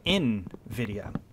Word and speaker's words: Nvidia: nvidia it is pronounced in video like you're pronouncing the letter first and then video and i was always